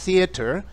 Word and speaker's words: theater: algo desde el inicio es usual que los británicos digan cerer sí y Los Americanos digan cer cuando yo inicié la lectura lo pronuncié con ese acento porque me es más cómodo pero de ahí he hecho el esfuerzo por mencionar theater algunas veces para que tú puedas escuchar y reconocer las dos pronunciaciones es importante conocerlas especialmente